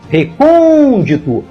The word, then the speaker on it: recôndito: Próspero recebe acento gráfico a palavra recôndito tem quatro sílabas e a mais forte é a antepenúltima recôndito portanto esta palavra é